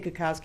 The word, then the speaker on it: Kokoski: they said our names, they say Kokoski in 2 syllables like Teresa does. Says Kokoski very fast, and it sounds like Koski. So? Koski, not cocky.